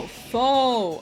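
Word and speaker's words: faux: Oh, fo. Ah, like like fake like fake folk. You don't know how to spell that word? I think it's f a UX.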